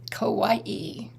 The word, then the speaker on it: Kauai: Hawaii I am the beauty beautiful island of Kauai there you go Kauai is that how I'm supposed to pronounce it yeah there you go there you